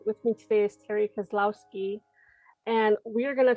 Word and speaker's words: Kozlowski: You did, Terri Kozlowski.